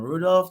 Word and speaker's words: Rudolph: My joke was, oh, Rudolph is French, and you're not even pronouncing it right. It's actually Rudolph. It's Rudolph. You have to roll your tongue because it's French.